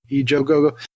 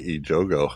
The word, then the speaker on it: Ejogo: The cast includes Carmen Ejogo.